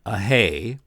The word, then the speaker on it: Ahé: Okay, so our comic this time is from Don Ahé. He told me that's how he pronounces it.